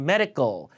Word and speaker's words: medical: 건강 검지를 자주 받는다 get 메디컬 메이에 컬 발음 medical medical 자 발음 강세은 강편